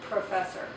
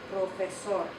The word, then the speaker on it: profesor: That's an aspirated P, professor. And you put your hand in front, you can feel it. When you say it in Spanish with the correct pronunciation, there's hardly any puff of air that comes out. You still put your lips together, but you don't really produce that puff. Profesor, profesor.